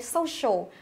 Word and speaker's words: social: Social. Ở đây chúng ta có đuôi ial thì trọng âm sẽ dâm tiếp trước đó là so, social.